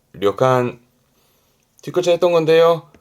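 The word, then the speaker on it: 旅館: 발음은 려간, 려간.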